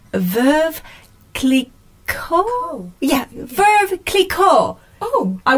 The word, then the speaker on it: Veuve Clicquot: French, and we all know how I cannot pronounce anything. So it's Veuve Clicquot.